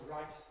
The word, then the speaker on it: right: And that's the right answer.